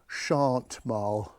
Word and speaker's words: Chantmarle: Um, I've spoken to four locals. Three called it Chant Mal and one called it Shantm. So, I'm going for Chant Mile.